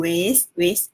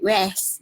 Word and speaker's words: wes: Ejaan dia W-E-S. Jarak tu wis. Bunyi dia wis. Walaupun W-E-S dia tak bunyi west. Okay, dia wis. Macam W-A-Z-E. Macam wis.